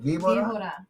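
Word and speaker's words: víbora: will get their choice of the snake, the Vibora, or the caballo, the horse. The snake or the horse. Mrs. C, how about You're practicing your Spanish tonight? I'm trying. Give me better pronunciation on that snake. Vibora.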